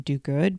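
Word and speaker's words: Duguid: And Martha had a woman named Naomi Well, Martha pronounced her last name Douguid, but it's spelled D U G U I D.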